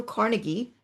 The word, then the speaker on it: Carnegie: He was particularly close with Andrew Carnegie, or Carnegie, some people might pronounce it as, and had become a trustee for the Carnegie Foundation.